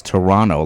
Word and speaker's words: Toronto: the middle T you don't see it it's Toronto like it's an N without a t next